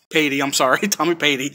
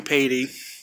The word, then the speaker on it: Patey: And now I straighten things out with Tommy Patey. I still got your name wrong. It's not Pate. So I straighten stuff out with Tommy Patey.